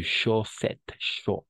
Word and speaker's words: chaussette: Ah, y la combinación de vocales O y U siempre va a ser U para nosotros.